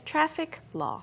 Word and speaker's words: traffic: Yes, so you have to actually pronounce the K.